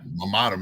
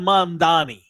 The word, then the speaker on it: Mamdani: Yeah, Mammadam is whatever the fuck his name is. I don't even know how to say his name. Zoran Mamdani.